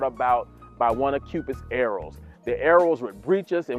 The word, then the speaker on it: eros: from a different perspective from the Bible perspective arrows pronounced arrows e ro s it's a Greek word for